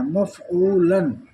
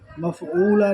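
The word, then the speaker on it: مفعولًا: جیسے مفعولن ڈبل زبر ہے نا، تو یہاں تک پڑھنا ہے. مفعولن، مفعولا نہیں پڑھیں گے.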